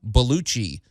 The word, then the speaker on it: Baluchi: a man named Reza baluchi just not not spelled exactly like John Belushi but pronounced a lot like it he's a 51 year